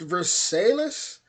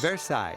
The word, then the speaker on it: Versailles: I want to say this is pronounced Versailles, Ultimate Royal Palace.